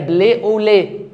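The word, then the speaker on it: blé au lait: كلمه فرنساويه فيقول لله قمح باللبن اللي هي بلي اوليه بتتنطق كده بلي اوليه يعني قمح باللبن فاحنا قعدنا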